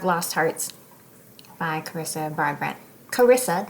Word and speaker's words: Carissa: Carissa, not Clarissa.